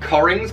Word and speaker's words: Cockerings: am going to be doing a review of corings by stephen colgan yes i know it looks like it's pronounced rings but it is